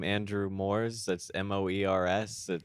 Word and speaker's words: Moers: it's Moers is One O. correct. Yeah, 1-0. which isn't a very common spelling, but anyways, it rhymes with s'mores.